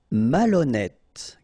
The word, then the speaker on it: malhonnête: décider, malhonnête. Okay, remember, H doesn't exist, so malhonnête. Don't insist on the final E. Malhonnête. And here you get E accent circonflexe, so you pronounce it like E. Malhonnête.